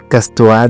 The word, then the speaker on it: casse-toi: dire pars d'ici vaten mais on mange le E et on le prononce comme ça casse-toi de là casse-toi de là mais